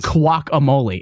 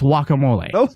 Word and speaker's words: guacamole: show that's what do it's not guac amole Andrew say it again guac amole okay that's a little bit closer how that's how you say it it's wacamole listen there's a lot